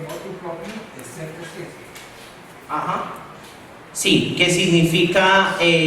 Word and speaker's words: motu proprio: A modo propio, pero no se dice motu propio, sino propio. Siempre comienzan con la expresión motu proprio, excepto si.